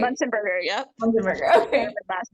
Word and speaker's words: Muenzenberger: Muenzenberger. Did I say it right? Muenzenberger, yep.